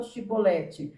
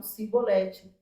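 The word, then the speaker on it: שיבולת: Então fala a palavra chibolibolete, só que eles não conseguiam falar, eles falavam cibolete.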